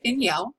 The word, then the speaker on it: Miniel: Miniel. It sounds like it's spelled Min Yell, but it is actually spelled Miniel.